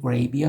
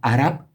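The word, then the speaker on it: عرب: We say Arab, but Arabs pronounce it a bit deeper. It actually starts with a glottal consonant, and then comes the vowel a, Arab.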